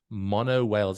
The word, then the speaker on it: Monowhales: of having an interview with International Canadian band mono Wales am I saying it right guys you are